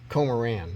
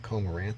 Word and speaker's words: Komoran: how you say it comoran not komaranth there's no t on the end it's comoran comorin could become Warren